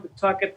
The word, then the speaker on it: Pawtucket: it's spelled Pawtucket, and everybody that's not from Pawtucket pronounces it Pawtucket. I actually looked it up in the dictionary to make sure I was saying it right, and you can say Pawtucket. Sure enough, it's Pawtucket.